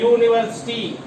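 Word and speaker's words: university: इसके पहले ए लिखा क्योंकि इसका प्रोनाउंसिएशन या से स्टार्ट हो रहा है। यूनिवर्सिटी, यूनिवर्सिटी, यहां देखिए या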